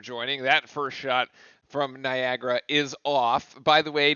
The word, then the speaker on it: Niagara: a foul there on Niagara. That will be their first. Anybody else feel like it's pronounced Niagara, but it's spelled Niagara. It's like has an extra A, and that really like threw me off when I was doing the spelling.